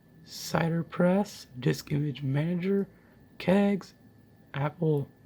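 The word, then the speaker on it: CiderPress: say that or it's actually meant to be pronounced cider press dis image manager kegs Apple to get apple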